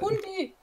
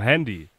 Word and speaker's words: Handy: Wie die Hand mit einem I dahinter. Hund? Hand mit I, Handy. Hand-I. Ja, nur zusammen ausgesprochen, Handy.